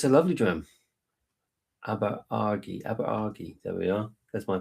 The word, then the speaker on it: Aberargie: Aberargie. There we are. That's my pronunciation.